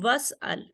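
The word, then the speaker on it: وَاسْأَلْ: This is is'al form, because waw is directly connecting to seen, so that's why we don't pronounce kasra over here.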